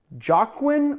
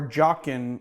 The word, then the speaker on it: Jaqen: This one's called The Cocktail Has No Name, and it is named after that faceless man who's named Jaqen or Jaqen. It's spelled J-A-Q-E-N.